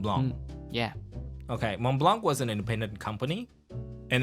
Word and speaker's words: Mont Blanc: do that and then once you get educated about the French pronunciation you will omit the T and the C so it's mon Blanc okay for okay I